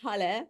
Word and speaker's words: Hal: lot I do uh my name is Hal pronounced like halelujah that's an easy pronunciation